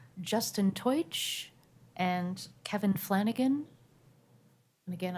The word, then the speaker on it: Teutsch: And our last 2, Justin Teutsch and Kevin Flanagan.